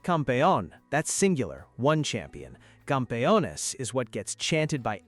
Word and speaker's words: campeones: Campeones is what gets chanted by everyone, together, the second that final whistle blows. Campeones, campeones. It's 4 syllables that somehow turn into complete chaos in the best possible way.